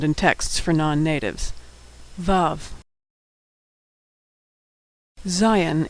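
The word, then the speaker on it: Zayin: texts for non-natives love Zion is pronounced Z as in zebra Zion Hut is pronounced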